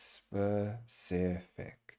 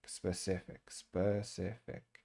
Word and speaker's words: specific: It's not it's specific. It's, I think the schwa sound right here in the E is what makes it a little bit. So specific.